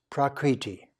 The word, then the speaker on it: prakriti: that we're living in in Sanskrit is pronounced prakriti pra means to produce